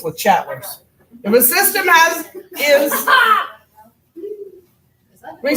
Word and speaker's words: Le Chatelier: It's pronounced Le Chatelier. He's French. Le Chatelier. Le Chatelier.